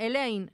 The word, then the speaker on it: Elaine: Elaine.